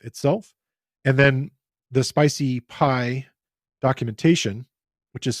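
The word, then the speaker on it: SpiceyPy: from the nai-nai F itself and then the spicy pie documentation which is spelled SPI c ey and then pi is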